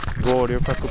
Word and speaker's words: Goryokaku: But yeah, let's explore around Goryokaku Park. Am I pronouncing it right, Judy?